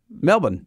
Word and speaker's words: Melbourne: Rock spot on Melbourne Melbourne but it's so the second syllable is kind of crushed against Melbourne see Simon you don't